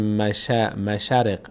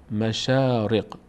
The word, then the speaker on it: مشارق: صدای آ تلفظ میشه نمیگیم نمیگیم مشرق مشرق این شین چون فتحه داره بعدش الف قرار گرفته شین فتحه‌دار تبدیل به آ میشه میشه شا مشاارق مشارق مشارق مشارق مشارق کلمه